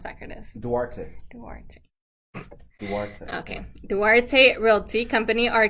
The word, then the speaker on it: Duarte: How do you pronounce that, Curtis? Duarte.